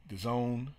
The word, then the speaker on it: DAZN: a void, and it looks like DAZN, DAZN, the Zone, I think that's how it's pronounced.